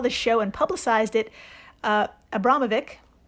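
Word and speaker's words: Abramović: From the wiki, quote, after Lady Gaga saw the show and publicized it, Abramovic? I think it's Abramovich, but I'm not the expert.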